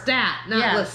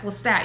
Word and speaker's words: Lestat: up on the spot i thought you were really listening to stat yeah it's lestat you got his name wrong he starts getting pissed